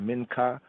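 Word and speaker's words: מנחה: Minka Minka my here I say the Minka as it's pronounced in modern Hebrew Minka Hebrew the mean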